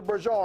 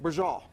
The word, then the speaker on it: braciole: Braciole. Braciole. Okay, it's not pronounced like it's spelled though. Yeah, a little bit different. B-R-A-C-I-O-L-E. Sounds Italian to me. Yes, it is. Let's so rock.